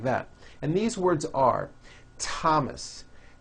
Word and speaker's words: Thomas: spelled with a th they are pronounced as if they were spelled with a normal T like that and these words are Thomas Thompson Teresa Thailand Thames